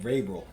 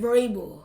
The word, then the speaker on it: Vrabel: Mike Mike Vrabel.